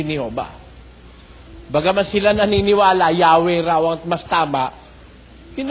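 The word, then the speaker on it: Yahweh: Ito pong Greek interlinear translation of the Holy Scriptures sa kanyang pahina the divine name while inclining to view the pronunciation Yahwe as the more correct We have retained the name Jehovah because of people's familiarity with it since the 14th century.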